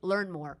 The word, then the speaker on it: Learnmore: So that's how you pronounce and that- his name that's is how you prove it. Learnmore, and it's real.